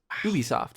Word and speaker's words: Ubisoft: start with this one uh march 26 1986 ubisoft is that how you pronounce it yep um was founded uh fun